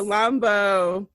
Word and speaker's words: Chilombo: Whew, I don't even know how to pronounce this, Ashley. This is by your girl, Jhené Aiko. Jhené Aiko. Yes. Chilombo. Thank you. Chilombo.